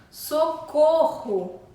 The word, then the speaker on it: socorro: a nossa língua coração socorro socorro possui 2R que saem da nossa Garganta arranhando a garganta Socorro dois erres cachorro